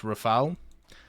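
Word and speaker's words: Rafale: missed um also when I know the Rafal was pronounced Rafal uh but I'm just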